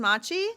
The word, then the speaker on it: Maciej: Is it pronounced Maciej? Hi. You pronounce my first name perfectly.